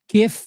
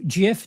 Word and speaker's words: GIF: And uh, you know, if you've ever sent a meme or an animated GIF, GIF, depending on how you pronounce it, chances are you've received something from this iconic show.